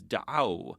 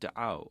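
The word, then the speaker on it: دعوا: The hum form is da'aw, where the wow of the third letter of the root combines with the wow of the suffix to give us wow with the sukoon over it, pronounced da'aw.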